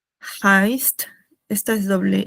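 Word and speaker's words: heißt: E I se pronuncia como una a, ¿no?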